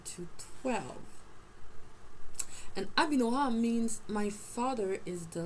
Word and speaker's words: Abinoam: Abinoam. Abi. Because there's Abba and there's Abi. It's not Abai. It's not a Y. It's an E. It's an I, but it's pronounced like a E.